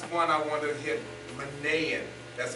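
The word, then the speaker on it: Manaen: Manaean, that's how you pronounce his name.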